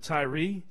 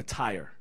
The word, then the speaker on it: Tyre: It says, "Then Jesus went out from there and departed to the region of Tyre and Sidon," or Tyre, which is probably the better pronunciation.